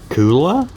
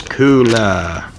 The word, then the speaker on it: Kuulaa: to pronounce that k-u-u-l-a-a let's find out how to pronounce that cooler cooler okay the brand name is cooler i would have never